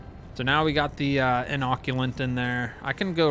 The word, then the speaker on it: inoculant: So now we got the inoculant in there.